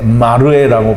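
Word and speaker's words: מראה: 거기에 이 물 또는 혹은 말씀이라고 할 수 있는 이 맴이 붙어서 마라에인데요. 마라에인데 마르에라고 발음을 합니다.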